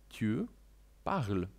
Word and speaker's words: tu parles: Mówisz „tu parles”. Dokładnie to samo, z małym wyjątkiem – dodajemy „s” na końcu, ale jak wiadomo, nie wymawiamy „s” na końcu.